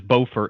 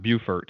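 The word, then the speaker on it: Beaufort: anyone listening to it it is bofer and not bufort even though it's spelled that way I've learned that by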